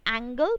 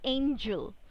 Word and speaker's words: angel: And the same thing goes with angel. Alright, or it's, I'm not saying it's angle people, it's angel. Alright, and now let's proceed ahead.